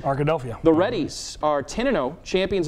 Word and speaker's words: Arkadelphia: Yeah, Ark with like Philadelphia. Arkadelphia.